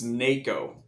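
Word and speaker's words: NAKO: It's NACO, N-A-K-O.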